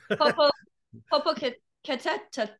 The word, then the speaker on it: Popocatépetl: Do you know how to pronounce that one? No. Popocatépetl.